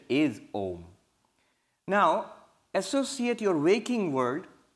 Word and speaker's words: Om: But don't pronounce it as Aum, because the rules of Sanskrit grammar say when you add A and U together, it becomes O. So the correct pronunciation is Om.